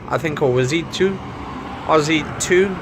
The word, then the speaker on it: Ozito: think always eat to Ozzy to I think is how you pronounce all odds you to